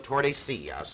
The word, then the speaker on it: Tordesillas: So, early in the next year, 1494, they gathered together in the little border town of Tordesillas. It's spelled just like it sounds.